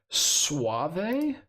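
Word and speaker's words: Soavi: posty posters uh for telling me how to pronounce suave Suave Suave is how you pronounce that name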